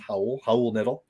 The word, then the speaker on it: Raul Neto: be on, but it's Raul Neto. It's sort of spelled Raul. Raul looks like, but it's actually pronounced Raul Neto.